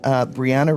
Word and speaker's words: Brianna: And Brianna Reese. Brie like the cheese is how she pronounces her name.